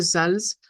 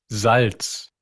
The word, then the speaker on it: Salz: De ahí, si usted dice Sals, pues va a sonar más o menos. Pero si se da cuenta uno y escucha el sonido, Salz, se da cuenta que hay una ligera diferencia entre las pronunciaciones ya observadas desde el punto de vista del alfabeto fonético internacional.